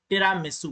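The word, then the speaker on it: Tiramisu: टिरामिसू है, टिरामिसू कह सकते हैं, that is the correct pronunciation.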